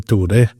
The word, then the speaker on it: Ture: Oh, his name is Ture Anger, and like Norwegian pronunciation, Ture.